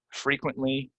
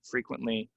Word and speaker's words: frequently: what we have is we have some E's that people, for whatever reason, they want to pronounce them as short E's, but they're really long E's, right? So this is frequent, frequently, frequency.